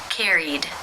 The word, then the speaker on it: carried: Carried, carried. How do you pronounce this verb?